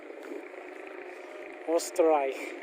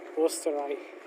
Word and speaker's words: Österreich: Österreich. Yes, how you say it in German. Österreich.